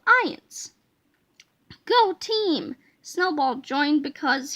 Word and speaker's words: iance: to skip these parts ions pronounced ions ions is one of